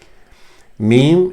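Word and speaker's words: ميم: Meme is pronounced with the lips, of course, as an M.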